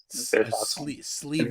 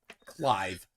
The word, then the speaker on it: Clive: Sleeve Wells. Sleeve Wells is. Oh yeah, Clive Wells. Clive. The silly pronunciation of Clive. Mallory pronounces it sleeve.